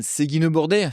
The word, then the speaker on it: Seguinot-Bordet: For the Australian audience out there, reading this label, how would you pronounce it? Domaine Siggenaut-Borte, for me, it's easy.